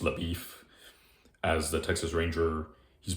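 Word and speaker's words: LaBoeuf: No, I don't mean LaBeouf, but it's like saying Shia LaBeouf, but it's pronounced LaBeef.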